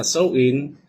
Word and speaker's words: Samhain: Ang Halloween ay nagmula sa ancians Celtic Festival na tinatawag na Samhain. Okay. Binibigkas na so in mga 2000 years ago na ang nakalipas na sa bansang Ireland, Scotland at England.